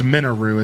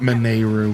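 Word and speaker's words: Mineru: This game actually corrected me and called her Minou, even though I think they corrected me in Tears of the Kingdom as well. But regardless, they called her it's it's Minou. It's not Manu, but you know, whatever.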